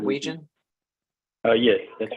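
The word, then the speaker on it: Weijin: Thomason uh my name is how do you spell that uh w-e-i-j-i-n -w-e-i-j-i-n am I saying that right region oh yes that's right that's right okay welcome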